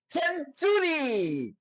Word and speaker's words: century: যেমন সেঞ্চুরি, CENTURY, সেঞ্চুরি। সেঞ্চুরি শব্দের অর্থ শতক, এখানে টিটা এর উচ্চারণটা হয়েছে চয়ের মতো।